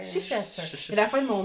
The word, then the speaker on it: Chichester: Il y a beaucoup trop de lettres pour pour ce que ce qu'on prononce là. Ouais. Oui, il me semble que c'est quelque chose comme ça. On me côte pas là-dessus mais je pense. Mais le festival pour c'est le chichester. Chichester. Chichester.